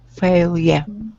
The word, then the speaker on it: failure: failure again no no it's not failure it's fail yeah yeah failure is a neutral sound at the end of the word neutral sound failure okay failure much better um Now